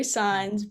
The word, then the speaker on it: Saenz: I know my last name sounds a little complicated. It's pronounced Saenz, but that's where you can find me on Instagram.